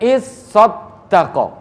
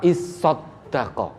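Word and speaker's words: اصَّدَّقَ: Kemudian is-sodako. Ada tambahan huruf tasdid di atas sod dan di atas huruf dal. Berarti ada tambahan 3 itu. Dalam kata is-sodako.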